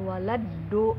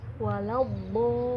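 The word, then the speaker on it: ولا الضالين: Untuk ayat terakhir yang walau bo, bukan walado, beda. Walau bolin, walau bolin, seperti itu ya teman-teman ya.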